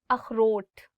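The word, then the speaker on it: اخروٹ: Akhrot. So this word khe, it also comes from your, I would say like throat. So you'll really have to do is like akhrot.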